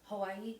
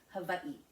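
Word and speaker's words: Hawaiʻi: For instance, Hawaii is actually pronounced Hawaii.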